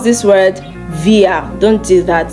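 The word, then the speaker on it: zwei: So anywhere you come across w just pronounce it as v. So we have t v i t v i together.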